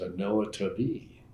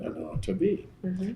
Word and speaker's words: Anoa Tubby: He said, my name is Anoa Tubby. And after that, I always pronounce it Anoa Tubby. That's what it is in Chickasaw, I guess.